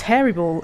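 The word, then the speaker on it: Eriboll: Moss says there's a place called Loch Erebol, pronounced as Hairy Ball. Is Loch a start with an H then in Gaelic? Oh no, I see what you mean. Oh sorry, Erebol.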